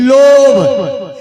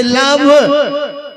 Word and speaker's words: love: लेकिन सबक अंग्रेजी में एक गो वर्ड छै, एकर LOVE लोभ, जकर शुद्ध उच्चारण है छे लव।